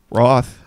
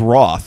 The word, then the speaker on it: Routh: It's like South. Good. I thought it was Roth. Like no, like it's moth. a big misconception. It's actually pronounced the same way South is. It's like Brandon Routh South.